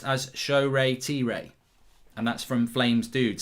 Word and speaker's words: Shoretire: I'm from the same tribe as Shoretire and in Nigeria, so it's pronounced as Shoretire. And that's from Flames Dude. So we need to remember this. It's Shoretire. Shoretire.